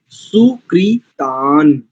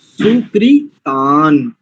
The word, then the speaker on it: सुकृतां: एक स्थान पर देखो ना, दूसरी पंक्ति का तीसरा शब्द सुकृतान, अनुस्वार भी तो है। सुकृता थोड़ी बोलेंगे उसको। उसके ऊपर एक अंक बिंदु भी लगा जिसको अनुस्वार कहते हैं। सुकृतान ऐसा करेंगे।